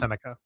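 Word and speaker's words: Sennecke: It's pronounced Senica. It's really okay. Whatever. Senica.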